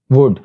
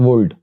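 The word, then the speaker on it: would: इसी तरह वुड नॉट वुल्ड, कुड नॉट कोल्ड।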